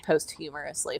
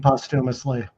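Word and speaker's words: posthumously: that it was released posthumorously for him. You mean postumously? Postumously. Yes. I always say it wrong.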